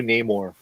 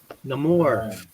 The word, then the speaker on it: Namor: You draw the new Namor. The new Namor, yeah. Namor coming for your girlfriend. Yeah. Namor. His name Namor, not Namor. No more.